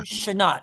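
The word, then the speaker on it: Chenault: The last name is a French name. It's actually the the name of a brand for a car. So Tom Shanat is it's pronounced Shut H E N A U L T.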